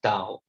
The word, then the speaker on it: tau: called as moment of force and this is pronounced as tau it's a greek alphabet so it's torque is